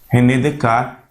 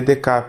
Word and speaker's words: Descartes: Lá no século XVII, um filósofo moderno, racionalista, o René Descartes, francês, por isso que a gente não pronuncia os S's, né?